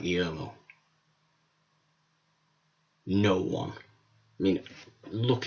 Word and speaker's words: Guillermo: Let's make sure we pronounce his name, Guillermo, who, no, isn't a horror director.